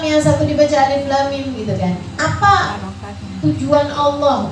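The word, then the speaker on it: الم: Kenapa dalam awal Al-Insyirah dibacanya Alam Nashrah? Padahal sama loh. Alam sama Alif Lam Mim itu sama. Sama-sama Alif, Lam, sama Mim. Kenapa yang satu dibaca Alam, yang satu dibaca Alif Lam Mim?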